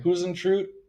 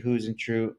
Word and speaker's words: Huisentruit: How do you pronounce the last name? Huisentruit, I Jodi believe. Huisentruit.